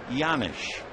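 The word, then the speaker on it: Janish: Scott pedik can explain why the J sounds like a why it's a Czechoslovakian name the one-1 pitch fouled away one and two the name is spelled j a n i h but it comes out yanish cednik has that extra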